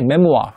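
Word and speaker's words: memoir: 그 다음에 얘도 이제 프랑스만에서 와갖고 발음이 메모아 이렇게 발음하거든요.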